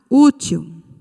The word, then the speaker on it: útil: Nós temos a palavra útil. Útil. Qual é a sílaba tônica nesta palavra? U. E ela é a última ou a penúltima sílaba? A penúltima.